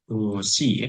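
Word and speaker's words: 動詞: Ini cara macanya adalah dosi, ya.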